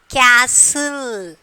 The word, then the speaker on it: castle: Castle. Okay, castle. So castle, here which letter is silent? We are not pronouncing the T.